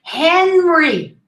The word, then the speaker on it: Henry: already talked about it henry henry pronounce the age the h in english is always pronounced it's aspirated henry there are exceptions